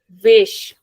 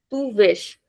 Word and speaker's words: vês: Then with tu it is vesh. Comes with accent. Tu vesh. Then você ele ela vê. Comes with accent.